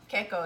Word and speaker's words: Ke Kō: So Keiko is how we pronounce it. A lot of people here also say Kiko.